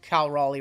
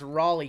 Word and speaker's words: Raleigh: Hitman also gets gets Kyle rally wrong I don't know I don't know how you guys mispronounce Raleigh considering it's a major city that everybody knows could have made better